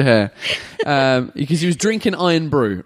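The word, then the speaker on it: Irn-Bru: was the ginger hair because he was drinking iron brew right Scotland ladies and gentlemen is a is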